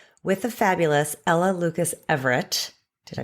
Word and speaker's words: Averett: But I am here with the fabulous Ella Lucas Everett. Did I pronounce? Yeah, rhymes with favorite.